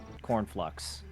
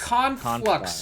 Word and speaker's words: Conflux: Can't play Cornflux. What? Cornflux? Because it's It's cheese flux. conflux, you clown.